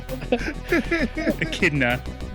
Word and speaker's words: Echidna: Which game is Knuckles the Echidna first appearance? Echidna.